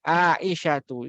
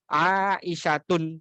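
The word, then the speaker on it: عائشةُ: Ya, Aisyatu itu enggak boleh bacanya Aisyatun. Nah, itu jelas salah. Sangat-sangat salah. Kemudian juga Fatimatu.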